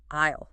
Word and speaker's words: aisle: It is spelled A-I-S-L-V, but the S is silent. Aisle. It sounds just like I will.